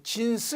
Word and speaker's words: XNS: MS가 아니로 XNS 이렇게 뭐 요거 우리말로 발음하기가 좀 애매한데 이게 요것을 이거 뭐 진스 이렇게 우리말로 이렇게 보통 발음을 한다고 합니다.